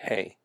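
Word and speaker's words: ἡ: the feminine would be hey and again it has a rough breathing mark over the ada so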